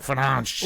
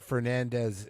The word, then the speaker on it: Fernandes: the way that, but the way that they pronounce it in Portuguese is very funny. It's Bruno Fernandes. It's like Fernandes. Ooh, Fernandes. Let's I like see. it. Yeah. I don't like that as Fernandez. It's DES.